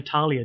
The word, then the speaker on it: Thalia: your house written apparently I was told that it's actually Talia just like the actual real world modern-day name Talia which is spelt Athaliah